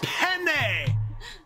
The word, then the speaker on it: penne: an awkward uncomfortable way I would not be saying peen as often as I did but what I mean to say is penne penne it's a type of pasta I just simply mispronounced it four times no I have an